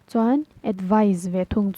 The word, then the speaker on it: advise: gives suggestions all right advise a d v i s e it should be pronounced as z z or Z however you pronounce it all right so advice